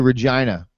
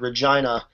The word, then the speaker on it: Regina: to use the word Regina in a sentence? It rhymes with vagina.